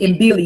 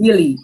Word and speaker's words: mbili: Not Ine, or is it Mbili? It's just Billy. I think they just pronounced it Billy. I told him that it was Mbili, but it's just Billy.